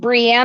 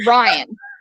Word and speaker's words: Brienne: The way he, I mean, he's fine, but when he straight up called Brienne of Tarth Brian, I mean, just straight up called her Brian.